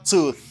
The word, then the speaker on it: tooth: Ça, c'est voiceless TH. Ça veut dire TH non voisé.